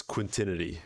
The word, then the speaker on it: Quintinity: resources in how do how to pronounce its quintinity is my name but you can just say Quinn all right let's look